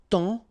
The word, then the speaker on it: temps: And then temps. Okay, so in that case, it's only the nasal here that you will hear. Temps. Okay, because the P is not pronounced and the S is not pronounced.